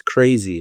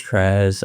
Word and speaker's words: Krazz: Has anyone ever like said like, "Oh, yo, that's crazy," instead of like Krazz, because like the two Z's?